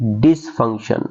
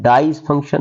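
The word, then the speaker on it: dysfunction: अब इसकी प्रोनाउंसिएशन क्या होगी? डिसफंक्शन। आपने इसको डाइस फंक्शन नहीं प्रोनाउंस करना।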